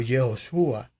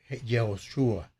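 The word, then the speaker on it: יהושע: Lo que pasa que Josué o jehoshua que es como se pronuncia Josué es el nombre que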